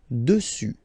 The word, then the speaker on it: dessus: Okay? Final S not pronounced. Dessus.